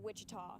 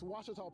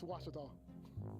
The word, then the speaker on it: Ouachita: for Washita Baptist University back in Texas everybody pronounces it Wichita but really it's Ouachita Washington how would you pronounce it Ouachita it's one it's Wichita Baptist University get it right it's Ouachita people it's Ouachita she talked about the buzzer is it going